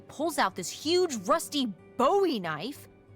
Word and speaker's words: Bowie: And then all of a sudden, with no warning, he pulls out this huge rusty Bowie knife. It's actually pronounced buoy.